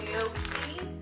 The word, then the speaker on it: gnocchi: It is pretty healthy, so I'm using the cauliflower gnocchi.